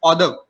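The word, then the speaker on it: hors d'oeuvre: So we call it is order. Sorry. Order. call it? It's a French order. Order. Okay. How do you spell it? It's a HORSDEOEUVER. It's a Order. French. Okay. It's a French term.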